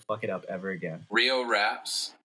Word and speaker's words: Rio Raps: Rio Raps. Rio Raps. Yeah. Riordan Tales. Oh shit! You shouldn't have told me your name, man. One at a time, Rio bro. Raps. One at a time. Rio Raps.